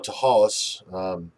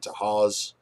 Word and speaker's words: Tahawus: towns that are well there's the town of tahas you can spell it how you say it how you wish um i was raised saying it to haws my mother actually grew up into haws when she was a